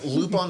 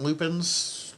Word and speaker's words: Lupin: There's kind of 3 different Lupins. I always go with Lupin just because that's how it's pronounced in the anime, but either way.